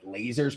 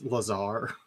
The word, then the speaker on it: Lazar: I don't even know if that's actually how you pronounce it, but I'm gonna pronounce it Laser. It's Lazar.